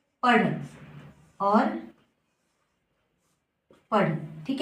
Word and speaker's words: पढ़: और यह है पढ़, क्योंकि जब ढ के नीचे बिंदी लग जाती है, ठीक है, तो इसका उच्चारण हम ड़ में करते हैं, ठीक है।